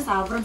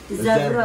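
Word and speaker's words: زعفران: Saya taunya saffron, sebenarnya kalau orang Arab Zafron.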